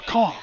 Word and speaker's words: Caen: Going for Caen. Nice. Or Caen, to say it right.